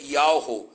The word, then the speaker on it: Yahweh: tirado do tetagrama Yud-Rei-Vav-Her, que a pronúncia seria Yahweh.